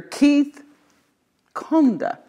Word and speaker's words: Keith Kunda: Keith Kunda.